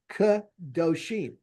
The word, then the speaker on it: kadoshim: So if you notice here, they do that so it's kadoshim, T-U. Kadoshim, because you're emphasizing it, you're giving it its own syllable, so they make the silent vowel a little larger for you.